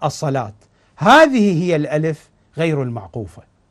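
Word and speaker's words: الصلوة: قصيره صغيره على الواو لتشعر بانها هذه الواو لا تلفظ واو وانما تلفظ الف ف تقرا الصلاه هذه هي الالف غير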